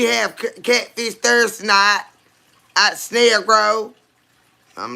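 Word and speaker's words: Snellgrove: It's called Snail Grow. It's It's spelled S N E L L G R O V E.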